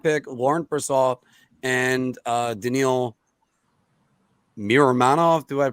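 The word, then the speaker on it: Miromanov: To Vancouver, a first-round pick, Laurent Brossoit, and Daniil Miramanov. Do I pronounce that right? Yeah, Miramanov.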